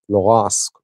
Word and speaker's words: Luhansk: I have covered that war a little, so I know Luhansk, Donetsk is the correct pronunciation.